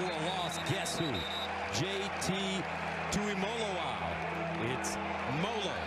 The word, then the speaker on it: Tuimoloao: loss guess who JT to him it's mola like Rollo folks that's how they tell us to pronounce it well he's been playing